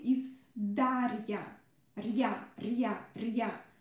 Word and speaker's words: Дарья: Our name is Дарья. Рья, рья, рья. Try to pronounce it, this part, really short. Don't pronounce it Рия, Рия, no, Рия, Рия, Рия, Дарья.